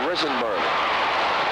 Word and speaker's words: Risenberg: That is the correct pronunciation, Risenberg.